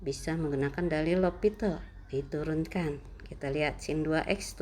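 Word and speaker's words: L'Hôpital: Dibacanya L'Hopital.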